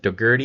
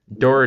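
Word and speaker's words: Dougherty: counties as well as um what is it degerty is what we said it's pronounced Dory doesn't matter I'm Gonna Keep screwing that up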